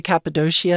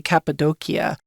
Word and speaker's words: Cappadocia: And we do see the Cappadocia, and we also see Cappadocia, which seems like it almost has an influence from Greek, that Greek, would be right?